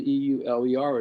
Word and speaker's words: Euler: important function is called the Euler it's spelled EUL er is pronounced Euler you feed function you week later